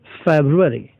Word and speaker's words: February: इनको प्रोनाउंसिएशन करते हैं हम लोग। This is called फेब्रुअरी।